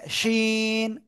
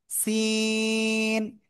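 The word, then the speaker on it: سين: কেউ একজন আপনাদের মধ্যে উচ্চারণ করতেছে শিন, শিন না, সিন, এমন উচ্চারণ হবে, হ্যাঁ।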